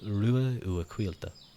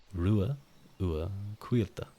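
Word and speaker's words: Ruadh Uacailte: Well, third PT, my name is pronounced Rua Uaquilta. Rua Uaquilta. So there you go. You can kind of cut out the DH.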